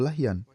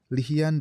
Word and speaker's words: Lahyan: Kemudian ada catatan tentang sebuah perang yang disebut Perang Banu Lahyan. Nama ini muncul dalam dua pengucapan, Lihyan dan Lahyan.